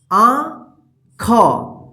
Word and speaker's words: आँख: तो देखिए यहां पे आँख, आंख, देखिए यहां पे नाक और मुंह की मदद से उच्चारण होगा आँख, आंख।